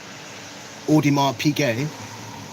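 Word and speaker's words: Audemars Piguet: And then I ordered a bust down Odimar PK. That's how you say it.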